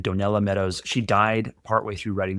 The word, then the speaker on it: Donella Meadows: Donna Meadows, I always mispronounce her name. Donella Meadows.